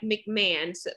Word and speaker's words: McMahon: you're watching the video her last name does not look like mcmahon's but it is pronounced that way that's right question number